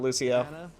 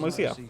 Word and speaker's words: Lucio: might have to go Lucio all out of resources papers even on the looser now and I'll say yeah they went Lucio oh no don't call him Lucia sorry STP they're gonna